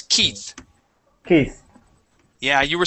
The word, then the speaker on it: Keith: of a boy okay that e that EI in the middle there makes a long e sound the word is Keith Keith yeah you were